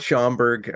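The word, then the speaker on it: Schaumburg: in chicago and well schomburg's a suburb shama llama bird yes that's what i call it i never can pronunciate it so it's the locals here call it schomburg um you know down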